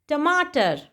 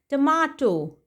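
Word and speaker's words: tomato: टमाटर, टमाटर को यूके में कहा जाता है टमाटो। टमाटो। एंड यूएस में इसे कहते हैं टमेटो। टमेटो। एंड टमाटर का प्रोनाउंसिएशन हम क्या पढ़ते हैं? टोमेटो। टोमेटो इसे नहीं पढ़ा जाता, इसे पढ़ते हैं टमेटो।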